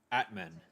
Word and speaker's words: Atmane: Atman. Atman, that's how they're pronouncing it.